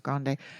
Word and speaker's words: grande: So I imagine the grande is, am I pronouncing that? Yeah, it's grande.